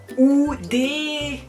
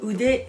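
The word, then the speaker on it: 腕: Ude, ude. 2 syllabes. Ude, ude. Alors, écoutez bien comment je le dis, ude, c'est pas oude ou oude, mais ude, ude.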